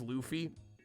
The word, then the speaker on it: Luffy: It is Luffy. It's spelled Luffy.